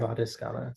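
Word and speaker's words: vadescana: Am I pronouncing that? Vadiscana.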